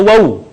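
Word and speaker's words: و: Selanjutnya adalah huruf wa atau wawu. Diucapkan dengan indhimamus syafatain atau mengumpulkan dua bibir kita.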